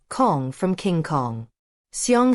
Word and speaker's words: Xiang: Xiang sort of rhymes with the English word song, except that the first sound is halfway between S and SH.